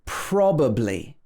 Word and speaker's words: probably: So we get this schwa sound when the syllable containing the vowel sound is not stressed.